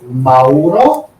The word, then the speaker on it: Mauro: Uh, my name is Mauro. So if you want to pronounce properly, you can say no. The Mori from New Zealand. Okay. Try to say with the O at the end.